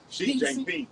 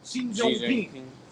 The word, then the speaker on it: Xi Jinping: Not King Jong. That's how you say it. Xi Jinping. Xi Jinping.